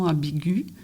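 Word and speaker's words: ambiguë: féminin disons une conversation ambigu ça s'écrit g u e avec le traéma sur le E ça signifie prononce le U qui précède toi toi lectrice ou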